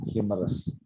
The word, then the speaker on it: humorous: humorous yeah humorous yeah so the stress is first humorous yes let's try another